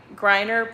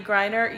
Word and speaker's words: Griner: um brittany uh am i saying it right griner oh is that right griner brittany griner yes i didn't know about this story guys um but jesus said uh they haven't yes griner so the the russians the russian government has